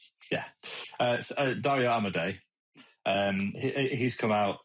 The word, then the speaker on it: Dario Amodei: CEO of John Smith, Dario Amodei, something like that, right? Yeah, Dario Amodei.